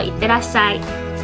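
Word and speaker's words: いってらっしゃい: 正确的发音叫做いってらっしゃい。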